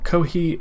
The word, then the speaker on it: Kohi: Well, Kohi is basically the Japanese pronunciation for coffee.